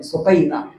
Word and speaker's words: سکینہ: سکینہ کو لے جاؤ، ان کا اصل نام سکینہ ہے، سکینہ عربی تلفظ میں سکینہ۔ اب آپ خود تشریف